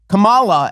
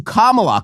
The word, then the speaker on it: Kamala: No, the wrong syllable. Oh my God, she called her Kamala as opposed to Kamala.